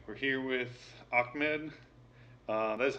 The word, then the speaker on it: Ahmed: All right, we're here with Ahmed. That is how you pronounce it, right? Yeah, Ahmed, it doesn't matter.